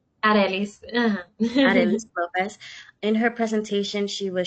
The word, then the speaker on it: Arelys López: Arielis Lopez. Aelis Lopez.